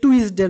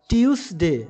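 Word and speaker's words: Tuesday: এটির উচ্চারণ কিন্তু টুইসডে নয়। উচ্চারণ হচ্ছে টিউসডে।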